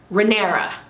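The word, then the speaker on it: Rhaenyra: by bit okay so princess rinera that's how you pronounce her name princess renee i wrote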